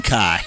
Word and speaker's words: Kai: Yeah, I went and asked for a pronunciation. They said we called him Kai.